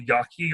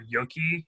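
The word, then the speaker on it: gnocchi: So my grandmother makes, it's called yaki or yoki in other different pronunciations.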